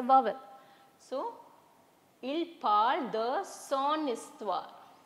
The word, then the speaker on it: histoire: So il parle de son histoire. So here also we cannot use sa histoire because H is silent.